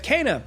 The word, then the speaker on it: Kena: Next, over at number four, we have "Kena: Bridge of Spirits." Yes, that's actually how you pronounce it.